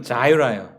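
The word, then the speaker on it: Jireh: 제 아내는 준, 우리 첫째는 조엘, 우리 둘째는 이제 한국 이름으로는 이레인데 영어 이름은 자이라예요. 영어식 그 발음은 자이라, 제호바 자이라 이렇게 하더라고요.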